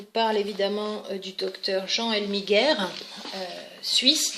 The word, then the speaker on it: Elmiger: Alors, il nous parle évidemment du docteur Jean Elmiger, suisse, donc je le prononce comme on le dirait en Suisse. En français, on dirait le docteur Elmiger ou Elmiger. Rosine Champdebois, pour en finir